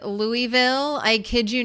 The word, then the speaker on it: Louisville: Is it Lewisville, Louisville, or Louisville? The one true pronunciation wrong it's not Louis source family who are from Louisville.